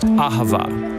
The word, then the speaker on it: ahava: It's pronounced ahava.